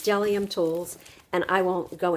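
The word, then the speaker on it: Bdellium: it's kind of funny it starts with a B but it tells you right here the B is silent so it's delium tools and I won't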